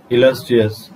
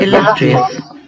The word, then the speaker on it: illustrious: Exalted means high, lofty, glorious, dignified, illustrious, noble, grand, high-ranking, and antonym is lowly. The pronunciation which we are Illustrious.